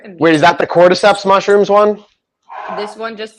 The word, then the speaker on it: cordyceps: Someone tell me how to pronounce this big word. Cordyceps.